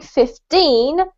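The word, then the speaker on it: fifteen: end of the word it's the emphasis between the syllables so if you're saying 50 you put the emphasis on the fifth if you're saying 15 you put the emphasis on the t and if you if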